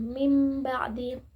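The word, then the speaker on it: مِنْ بَعْدِ: Berarti dibaca seperti mim sukun, mim ba'di.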